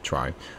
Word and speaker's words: trie: whatever going the question a try pronounces try or prefix tree is